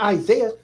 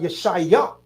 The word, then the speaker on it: Yeshaya: Like Isaiah, Yeshaya. Not Isaiah, but Yeshaya.